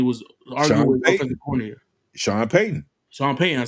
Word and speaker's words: Payton: Broncos when he was AR coordinator Shawn pyton Shawn pyton I said it right yeah right but he